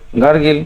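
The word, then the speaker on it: gargle: সব ম্যাক্সিমাম সবাই গার্গিল করে, গার্গেল, কিন্তু উচ্চারণটা কোনটা হবে? গার্গেল। এই যে option B is right answer.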